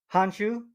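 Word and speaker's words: Han Xu: How do you pronounce her name? Hanshu.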